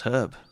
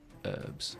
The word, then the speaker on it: herb: You guys can't even pronounce herb. You seem to pretend it's a silent H when it is most certainly not. You and your herbs. Herbs.